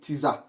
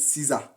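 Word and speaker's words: tsar: some people call it Tesa that is TZ a r but some people call it Caesar but it is Cesar Alexander one who represented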